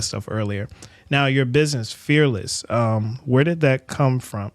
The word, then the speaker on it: Fearlyss: Now, your business, Fearlyss, where did that come from? Did I say that wrong? No, you said it right. Fearlyss, I did say right?